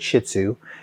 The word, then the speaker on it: Shih Tzu: Shih Tzhu.